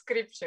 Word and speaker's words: Stripchenko: But it's the same for Skripchenko, you know, it's somehow it's Skripchenko.